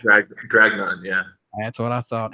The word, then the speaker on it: Dragnun: Gathering of None, Blitzkid, and I hope I pronounced this new band's name correct. Dragnun? Is that correct? Dragnun, yeah.